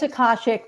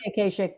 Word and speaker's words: Akashic: Well, it's Akashic, but it's okay. People say Akashic, but it's Akashic.